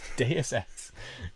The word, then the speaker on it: Deus Ex: It's Deus Ex.